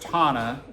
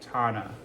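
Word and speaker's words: taṇhā: So this is how you can remember this. It's pronounced Tanha, but it's Tanha.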